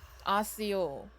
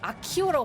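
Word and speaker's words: Accio: 아시오. 아시오가 뭔데? 아, 물건을 당기는 능력인가 본데? 아시오. 아키오라고 발음하네.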